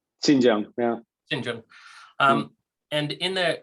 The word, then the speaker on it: Xinjiang: abuse in the ice i've always pronounced it the shinjin but it sounds like sanjin or xinjiang is closer xinjiang yeah um and in